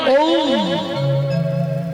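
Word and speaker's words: ওঁ: এই যে আমরা একটা শব্দ খুব উচ্চারণ করি, ওম, মন্ত্র বললেই প্রথমেই ওম ওম, যেটাকে আমরা ওম বলি, কথাটা তো ওম নয়, ওম। ও উ ম, ব্রহ্মা বিষ্ণু মহেশ্বর।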